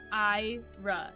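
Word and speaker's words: Amyra: It's A M Y R A. Okay. But it's like um Ira is how it's pronounced.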